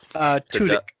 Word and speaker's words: Tudyk: Tudyk.